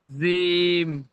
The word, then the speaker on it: جيم: আলিফ, বা, তা, সা, জিম, হা, জিম। জিম, জিম, এটা চেপে উচ্চারণ হবে, জিম। জিম, আপনি মানে জিভের আগা থেকে বলছেন, জিম এমন ভাবে বলছেন, ওটা জিভের পিছখান থেকে হবে, জিম।